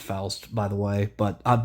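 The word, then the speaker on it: Faust: just one of many fosts. And yes, I know it's pronounced fast, by the way, but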